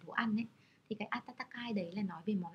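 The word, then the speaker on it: 暖かい: Atatakai là từ ấm nói về thời tiết.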